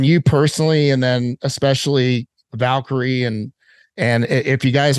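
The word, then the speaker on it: Valkere: uh from levaric and and came up with Valkyrie which I love uh and Valkyrie is spelled v-a-l-k-e-r-e for those of you looking uh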